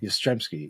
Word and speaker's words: Yastrzemski: Yastrzemski, yeah. It's spelled wrong here.